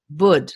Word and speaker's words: Bood: Bud, like wood.